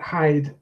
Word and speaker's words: hide: highlighted the E because that E is not a silent E, as people sometimes say. It's actually influencing the pronunciation of the I vowel before it, changing it to I. So if you don't have the E, you've got hid. If you have the E, you've got hide.